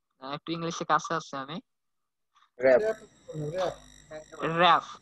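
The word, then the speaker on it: wrap: যাবে, এরপরে আমরা দেখবো যে column, sorry flax, rough, sorry rough না, এটার উচ্চারণ হবে, এটার উচ্চারণ কি হতে পারে ভাইয়া, একটু ইংলিশে কাছে আছে আমি, র‍্যাপ, র‍্যাপ না, জি হ্যাঁ র‍্যাপ।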